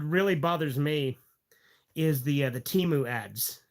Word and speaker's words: Temu: And like they changed the pronunciation of the app in the song. The older versions of that ad went Temu, Temu. Now it goes Temu, Temu.